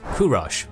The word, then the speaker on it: Kurosh: was born this boy known as kurosh by old Persian pronunciation but to us as Cyrus came into the world